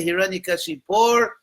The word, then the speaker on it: Hiranyakashipu: A pronúncia correta é Hiranyakashipur ou Hiranyakashipu? As duas coisas, porque sânscrito é uma língua, em português se diz, flexionada, uma linguagem flexionada.